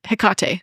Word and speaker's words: Hekate: um this is HEC this is hekate is technically how you pronounce it heate hiate you okay it's so